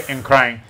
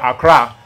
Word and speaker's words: Nkran: Of course, we know that white people can't pronounce anything correctly, so they'll hear Nkrang, and they'll say Accra.